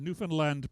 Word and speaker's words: Newfoundland: And don't say new found land. It's not three separate. It's all rolled together. And in fact, the emphasis is upon the last syllable, Newfoundland.